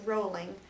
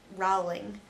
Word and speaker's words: Rowling: the way it's pronounced rolling not Rowling it rhymes with bowling the reason these books